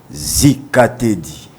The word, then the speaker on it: Zikatedi: Bon, c'est Z comme Zahir. Ok. Zikatedi. Zikatedi. Voilà. Ok. Et non S.